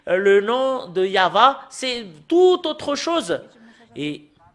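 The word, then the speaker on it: יהוה: ne sont pas conscients l'ont écrit en yahouva c'est un nom d'un faux dieu voilà le nom yahuva vous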